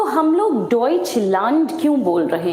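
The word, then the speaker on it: Deutschland: तो हम लोग डइचंड क्यों बोल रहे हैं? हम डोइचंड इसलिए बोल रहे हैं बिकॉज़ जर्मनी में हम लोग डोइचंड बोलते हैं।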